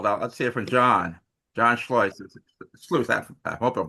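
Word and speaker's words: Schleuss: Let's hear from John John Schllo. I hope I'm pronouncing it correctly. You did it right the first time. Yeah. voice. It kind of rhymes with voice or choice and I've lost my voice practically a day.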